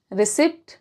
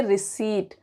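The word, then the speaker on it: receipt: जैसे ये, इसको क्या बोलेंगे? रिसिप्ट? नहीं, इसको बोलेंगे रिसीट।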